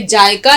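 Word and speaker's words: ذائقہ: अब यहाँ मामला तलफ्फुज का भी है, ये जायका नहीं है, जायका। ये तलफ्फुज या इसका उच्चारण आपको ठीक रखना है। जायका आवाज जड की निकालेंगे, जाल की, और काफ की आवाज हलक से निकालेंगे, जायका।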